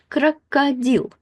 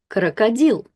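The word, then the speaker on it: крокодил: And when we put it together, E is stressed and that means that both of these O's will be affected. They're not stressed and they will turn into a crocadill. Crocodil crocodil.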